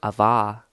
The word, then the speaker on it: Ava: And his sister, Ava, literally that's how you pronounce it, Ava.